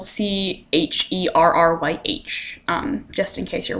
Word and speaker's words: Cherryh: of luck in used bookstores her last name is spelled c-h-e-r-r-y-h um just in case you're wondering um but